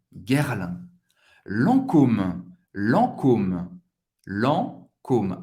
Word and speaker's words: Lancôme: Lancôme. Lancôme. Lancôme. A-N tem o som do AN. E você vai pronunciar o O bem, bem forte. Lancôme. Lancôme.